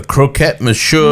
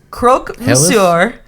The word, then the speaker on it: croque monsieur: The croquette monsieur. No, it's not how you say it. Hells. Croque monsieur at Les Halles.